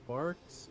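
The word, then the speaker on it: Barq's: Cream soda, big red, barks, marks. I used to, as a kid, it took me way too long to know figure out it was supposed to be pronounced bark like a dog.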